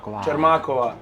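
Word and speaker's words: Čermáková: Her name was how do you say it's a longer A, Magdalena Čermak, right? Čermakova.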